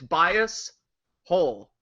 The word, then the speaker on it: Biasholes: by because it's bias hole yeah how how do